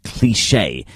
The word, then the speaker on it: Klischee: Now, the next artist that I have for you is called Klischee, but it's spelt K-L-I-S-C-H-E-E.